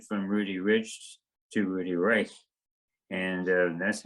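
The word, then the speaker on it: Reich: it r e i c h but they pronounced it rich so when I came to Stanford I didn't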